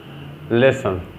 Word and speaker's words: listen: here in this world t is silent listen we can't say listen